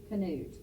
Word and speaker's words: Knut: Canute.